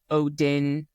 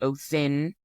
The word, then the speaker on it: Odin: You know, a lot of people pronounce Odin, but it's actually Othin.